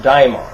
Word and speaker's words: daimon: It originally was spelled with an A. It was D-A-E-M-O-N, daimon.